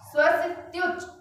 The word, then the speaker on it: स्वस्त्युच: स्वस्त्युच, स्वस्त्युच, आधा यू और चा है, फिर स्वस्त्युच छलद विमल बोध सुधाप्लवाय।